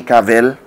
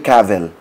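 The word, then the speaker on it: Cavill: na to si Henry cavell Hey Siri How do you pronounce Henry cavell I found this on the web How do you pronounce youve heard it like travel cav is pronounced like trav travel All right so itong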